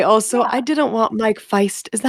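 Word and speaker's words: Faist: the role I also I didn't want Mike Feist is that how you say his name yes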